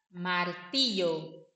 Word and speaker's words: martillo: Sempre que tiver esse L, L. Yo, ya, ye, y, yo, yo, entendeu? Mais nesse sentido, martillo, tornio, clabo, clao.